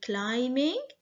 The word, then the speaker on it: climbing: i n g climbing b here is silent okay letter b is silence so you have to say climbing frame f r a